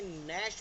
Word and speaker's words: gnash: अब जैसे नैश मैंने बोला GNASH, तो स्टार्टिंग में भी अगर जी एन आया था तो जी वहाँ पे साइलेंट हो गया बिकॉज एन से पहले आया, राइट।